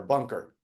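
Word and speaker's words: Bunkr: see what the future brings for us so that's spelled bu n k r bunker correct bunker like uh yeah it's golfers would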